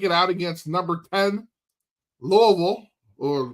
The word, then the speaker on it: Louisville: Kentucky at Louisville.